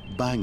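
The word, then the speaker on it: bhang: They discovered that Vela had connected its data with two light sensors called bang meters.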